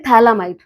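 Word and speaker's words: phthalimide: यहां पे नाम पीए से शुरू जो कि साइलेंट है। इसलिए इसको पढ़ते हैं थैलामाइड।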